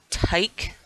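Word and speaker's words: Tyche: though um and they're they're calling the planet tyke I do believe is how it uh pronounced it's t-y-c-h-e uh and this I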